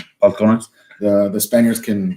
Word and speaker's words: Balcones: It's Balcones. Balcones. The Spaniards can. You're not a very good Mexican if you're pronouncing your B's as a B.